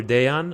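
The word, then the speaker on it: Dejan: Deon of Healthy Habit Medical Center. And if you're having trouble pronouncing that, it's like day off but day on.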